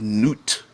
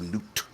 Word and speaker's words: Nut: yab and goddess of the sky which is not probably mispronouncing that but ring it Osiris and Isis